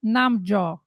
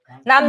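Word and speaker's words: 남주: So, in the world of K-dramas, you often hear the term namjo. Did I answer that correctly? I mean, did I say it correctly? Namjo. Namju.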